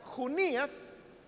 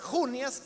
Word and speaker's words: Junias: Si usted lo pronuncia Junías, es masculino, porque entonces viene de Juniano, es una contracción de Juniano, que es un nombre masculino. Pero si lo pronuncia Junias, como yo lo he estado haciendo, entonces es femenino.